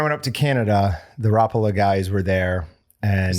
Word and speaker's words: Rapala: up to Canada the Rapala guys were there and is that how you say it see I've always said Rapala but they were saying Rapala so I figured they know right so it may also